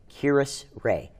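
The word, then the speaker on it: Kiris: our other pack spotlight this month please welcome kirus ray did i get your name right yes i'm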